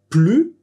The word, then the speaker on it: plus: le “ne”, parce que dans la négation tu ne prononces pas le /s/ final, tu dis : “plu” Et c'est vraiment important